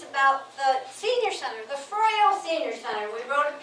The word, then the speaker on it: Froio: We wrote a piece about the senior center, the Froio Senior Center.